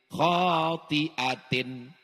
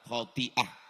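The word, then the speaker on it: خَاطِئَة: Nasiyatin kazibatin khotiatin. Ustaz, cara bacanya salah Pak Ustaz. Khotiah.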